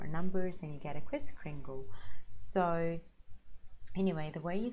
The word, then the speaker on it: Kris Kringle: so Kris as Christopher Kris Kringle as in Pringle so that's it Kris Kringle it's actively actually an